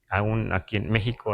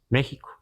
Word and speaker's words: México: esta x pronunciada así la x ese valor que le damos a la X en la escritura naar en español a veces es J verdad porque decimos México pero a veces sí